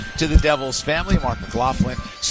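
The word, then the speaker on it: McLaughlin: Thank you, Mark Mclofflin. And by the way, that's how he told me to pronounce it.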